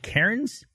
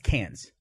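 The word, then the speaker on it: Cairns: the map it's called Karen's see a I RNs yeah how do you pronounce that Karen's yeah it's cans which I think it's listen friends Australian way of saying they're just saying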